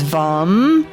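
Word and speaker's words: वं: this orange chakra and the one syllable Sanskrit mantra for this chakra is um also in uh is is vom vom where you visualize orange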